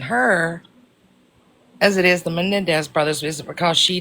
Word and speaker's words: Menendez: Menendez brothers Menendez several family members have came forward and talked about the SA that went on.